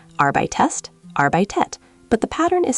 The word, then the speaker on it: arbeitest: Wait, arbeitest has an extra E sound in the middle. Great ear. Some stems ending in te or de often add an extra E before st and te to make it pronounceable.